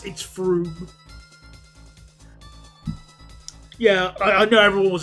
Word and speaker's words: Frome: Like, when I was younger, I did call it Frome. Yes, I did. It's Froome.